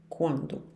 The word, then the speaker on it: quand: exemplo, où, onde, quand, quando. Cuidado para não dizer quand, não se pronuncia o U e também não se pronuncia o D.